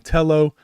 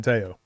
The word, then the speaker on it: Tello: So his name is spelled Tello, but pronounced Teao. Yeah. So I learned that at the combine the first day, said it's Teao. Since then, I've been saying Teao.